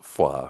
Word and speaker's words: Foy: yeah and then the town of Foy which they pronounce FAA which I got goosebumps